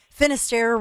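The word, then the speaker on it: Finisterre: Finister rhymes with Lair Bear and Lar Bear and I and so many of you have already signed up and I mean I'm so excited.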